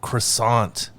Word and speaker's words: croissant: The T at Croissant. the end of croissant is definitely silent, so do not say Oh. croissant.